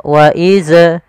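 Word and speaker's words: وإذ: Kesalahan yang terjadi adalah memantulkan zal ketika dia berharakat sukun. Contoh, waidz najjaina. Waidz ini memantul. Harusnya tidak boleh mantul. Bagaimana supaya tidak memantul? adalah ujung lidah kita menempel dengan gigi dari atas.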